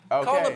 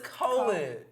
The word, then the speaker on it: Colin: Colin Powell died, y'all.